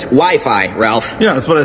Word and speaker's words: Wi-Fi: Wifey? Well, it's either wiffle ball or an arranged marriage game. It's actually pronounced Wi-Fi, Ralph.